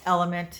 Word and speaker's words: LMNT: I'm taking my, I guess it's Element. It's not pronounced LMNT, but that's how it's spelled.